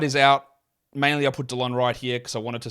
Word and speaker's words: Delon Wright: Mainly I put DeLon Wright here because I wanted to say his name correctly.